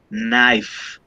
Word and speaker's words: knife: put yes leaf knife check the pronunciation for this letter k it's not pronunciated so you say knife yeah and i'll tell